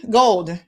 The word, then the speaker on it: Gould: so this is mr everett gould gold um is how he pronounces it so he was in